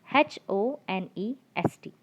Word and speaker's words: honest: Look at the spelling, children. Honest. So H is a consonant sound. Yes or no? So what should come before consonant sound? A should come before consonant sound. But here it's not the case, because in this word H is silent.